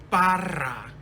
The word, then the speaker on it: Barra: Brown, illustrated by Barra. Can you roll your R's? R's? Barra.